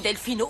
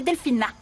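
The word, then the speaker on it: Delfina: dormi comme un loir Delphino faut t'esser une tasse de café oui je veux bien mais j'aimerais que vous me fassiez le plaisir de prononcer mon prénom non correctement c'est Delphina pourquoi qu'est-ce que j'ai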